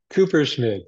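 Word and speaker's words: Kupferschmid: name correctly for me Cooper schmith it's very intimidating but just don't pronounce the F it makes it a lot easier Cooper Schmid so Keith um I'm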